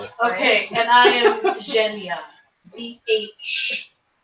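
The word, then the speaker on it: Zhanya: How else would you spell it? Okay, and I am Zhenya. Z-H-A-N-Y-A. Zhenya.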